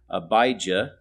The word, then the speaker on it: Abijah: called the division of abijah which is the Hebrew pronunciation or AIA in Greek